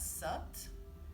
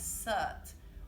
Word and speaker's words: Sat: So on the inhale, we could chant Sat and exhale Nam. And it's pronounced S-U-T, it's spelled S-A-T.